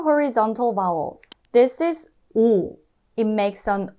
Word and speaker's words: 오: You get 오. Because 이응 is silent here, we only hear the vowel sound.